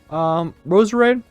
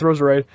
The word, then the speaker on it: Roserade: Roserade. Thank God I said it right. That's Roserade.